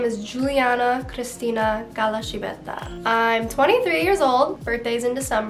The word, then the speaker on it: Giuliana Cristina Calascibetta: The way you pronounce my name is Giuliana Cristina Galashibeta.